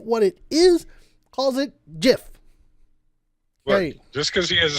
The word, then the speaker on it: GIF: read the whole thing he goes PS it's pronounced gif not Jeff no no no no it is jiff the guy who made listen the guy who